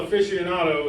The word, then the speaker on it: aficionado: I know I'm a real aficionado. Is that the right how you say it? That's how you say that.